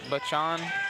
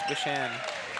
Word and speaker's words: Bachan: CH makes a sh I I don't know.